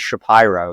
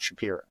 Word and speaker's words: Shapiro: It is Shapiro, not Shapiro.